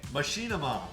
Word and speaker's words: Machinima: machima uh they is that how is it pronounced Machinima Machinima Machinima okay Machinima so they had a show for a little